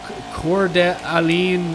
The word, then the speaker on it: Coeur d'Alene: Shout out from, oh my gosh, how do you pronounce that town name? Coeur d'Alene, Idaho?